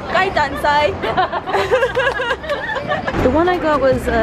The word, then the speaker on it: 鸡蛋仔: Can you pronounce this in Chinese? 鸡翅肉松鸡蛋仔. Cheese cho. Ji choi. Yok song. Yok son. Gai dan sai. Gai dan sai.